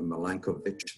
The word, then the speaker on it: Milankovitch: malanga circles I should say I've been correcting pronunciation of Milankovitch that should be moving the second component of